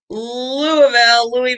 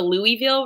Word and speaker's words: Louisville: It's pronounced Louisville. I'll say Louisville, but Louisville is still better than Louisville. So just if you can avoid, skip the Louisville for sure. In every way, shape, or form, skip Louisville. It is Louisville.